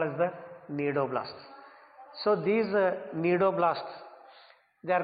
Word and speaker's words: cnidoblasts: They are called as the cnidoblasts. So these cnidoblasts, they are called as the cnidocytes also. Here C is silent here.